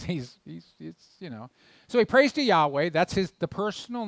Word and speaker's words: Yahweh: And some translations have called it Jehovah in the past. That's almost an impossible pronunciation. But Yahweh is the way that it was most likely pronounced. That's the majority of Hebrew scholarship.